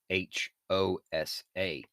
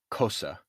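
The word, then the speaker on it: Xhosa: pronounced it hosa and it's really more pronounced cosa and even that is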